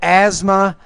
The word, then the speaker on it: asthma: So the that vowel, you're not pronouncing that vowel correctly. So asthma, add.